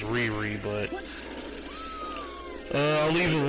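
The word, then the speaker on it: Lei-Lei: glad it's not shinika and finally SEO AKA leely in Japan well actually it's pronounced Riri but uh I'll leave a link in the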